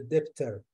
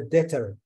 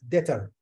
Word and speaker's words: debt: some accountants say the debtor. It is not right. This is wrong. So the B is silent. The B, don't say the debtor. Say the debtor.